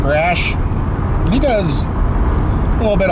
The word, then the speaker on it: Raasch: I've got him in my like category, and it's RAASCH, Mark Rash.